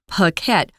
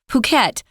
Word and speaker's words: Phuket: Notice that it's pronounced with a p sound. Phuket, Phuket, Phuket.